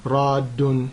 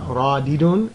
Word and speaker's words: radd: Radun or rad, because we don't pronounce the last haraka when we stop on it. Yeah? So it's not radidun, it's radun.